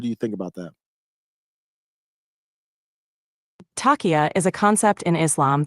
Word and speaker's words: Taqiyya: I'm sorry, Taqiyya is how you pronounce it.